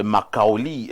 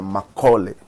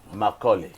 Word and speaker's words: Macaulay: Il s'agit de Makaoli. Bonjour. Bonjour. J'espère que je prononce bien. C'est Makaoli? C'est Macaulay. Macaulay. Oui.